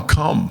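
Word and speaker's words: Kum: But also, like she said, it's Kamok, but all the family members call my mom, it's spelled K-U-M, So everybody calls my mom Cum. That's what she's known as, Cum.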